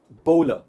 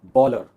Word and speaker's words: bowler: It's called bowler and not bowler, क्योंकि हमें लगता है कि वो बॉल फेंक रहा है, इसका मतलब बॉलर है, पर वो बॉलर नहीं है, it is bowler.